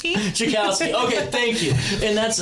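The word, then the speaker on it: Tchaikovsky: Because to be quite honest with you, I'm having a hard time pronouncing the last name here. Chakowski. Chicowski.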